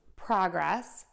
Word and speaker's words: progress: syllable, and then still stress syllable number two and end with shun when we see those two S's there. Okay, let's give it a try. So we have progress, progress, progressing, progressed, progression, progress, progress, progressing, progressed, progression.